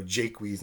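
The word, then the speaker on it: Jaques: use French French pronunciation so we have Rowland de boys and we've got you know Jake wheeze instead of Jacques we've got that world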